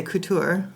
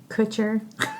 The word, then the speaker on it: Couture: pronunciations which are Couture Kutcher Kutcher and then of course Sandra and Sandra so this is a Sandra and we're going to go with the French pronunciation today because that sounds that